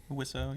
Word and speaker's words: Wiseau: Wiseau, yeah.